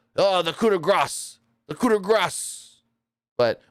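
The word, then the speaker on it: coup de grâce: It's the coup de grace, even though it's spelled Grace, yet Kevin Patrick says it literal. Oh, the coup de grace, the coup de grace.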